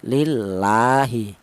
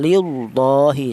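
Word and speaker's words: لِلّٰهِ: Untuk cara bacanya tarkik tipis seperti ini, lillahi. Jangan lillahi, jangan. Kalau tafkhim tebal lillahi, salah ya.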